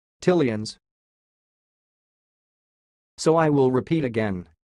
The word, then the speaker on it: Tileans: word you are watching it sounds like till Ian's till ians so I will repeat